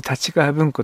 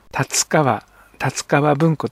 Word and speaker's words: 立川文庫: た立川文庫ですねこれは文字ではたちカーブんこと書いてよくたちが文庫と言われているようですが実際には達川立川文庫というのが正しいそうですこの立川文庫